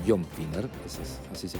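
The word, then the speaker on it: Finer: de la Casa Blanca John finner o John finner es así se pronuncia afirmó nos estamos preparando para todas las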